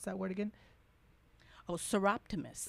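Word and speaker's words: Soroptimist: Pronounce that word again. Oh, Seroptimus. Seroptimus Yes.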